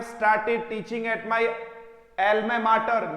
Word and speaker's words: mater: I have started teaching at my Elma martyr. मैटर मत बोलना, मैटर होते ही तो ये वाला स्पेलिंग आएगा। MATER ये माटर है और MATTER, दोनों वर्ड को अच्छे से देखिएगा, दोनों में क्या अंतर है।